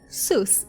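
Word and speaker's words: סוס: But if I want to say sus in Hebrew, it means horse. So how do you say horse in Hebrew? You say sus.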